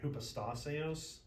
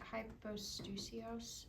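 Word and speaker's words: ὑποστάσεως: can pronounce apogasma and hypostaseos and all these other like ridiculously long words, your life will be so much easier. Ashley. Is that hypostusios? Hypostaseos.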